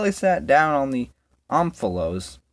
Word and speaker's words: omphalos: Till he sat down on the omphalos. That's how you say it, apparently. It's Greek.